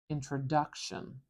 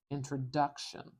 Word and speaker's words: introduction: the strongest syllable is Introduction introduction if it looks like a duck and quacks like a duck this syllable here is our strong syllable duck introduction introduction so I'm